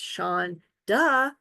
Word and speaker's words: Seanda: I have been spending more than 5 decades trying to convince the world that Seanda is actually pronounced Sean, duh, but it's not my fault.